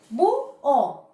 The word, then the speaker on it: búho: Entonces, bu-o. Miss, pero ahí está la H. La H no interviene a que se produzca el hiato o el dictongo.